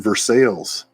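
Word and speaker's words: Versailles: Kentucky is the pronunciations it's Louisville but if you if you uh drive down the roadways you'll be in versales I love I love living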